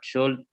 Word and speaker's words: should: After this after this interview, what should L-nya nggak I- dibaca. L-nya nggak dibaca.